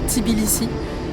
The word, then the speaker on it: Tbilissi: Tout commence par la visite de la capitale qu'on prononce Tbilissi et elle allie autant la modernité que la richesse culturelle et toute l'histoire.